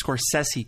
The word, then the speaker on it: Scorsese: And strangely enough, Kristian said Scorsese correctly, which is weird since he's so inconsistent on my other pronunciation lessons.